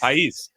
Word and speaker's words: Pais: Is it Pais? Have I been saying it incorrectly this whole time? It's Pais. Pais. So you've been saying it right.